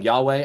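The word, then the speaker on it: Yhwach: aren't there Penny's right his name is spelled like y-h-w-a-c-h but then when you hear them say it's like something like that so the letter B is not there his name's Yahweh and that's what I'm calling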